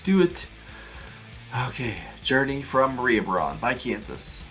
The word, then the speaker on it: Mariabronn: Is that how you pronounce it? Let me make sure. Mariabronn, yeah.